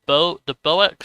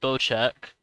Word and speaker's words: Bocek: The Boex sword, pronounced Bocek. Compound bow is a precision marksman weapon that rewards skill and confident hand.